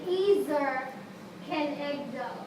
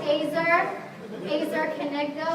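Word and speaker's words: ezer kenegdo: Eggo say it again I put the pronunciation up there because I wasn't sure I had to Google pronunciation some people call it AER AER Keno or eer kdo but when God created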